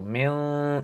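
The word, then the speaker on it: مِنْ: So min noon sakin, and then after a fa ikhfa letter. So min in your nose, nasal.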